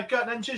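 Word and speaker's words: Geert Nentjes: I'm going to get this pronunciation wrong again. Gertnetjes, is that right? Definitely not. No, Gertnetjes, you've done well there.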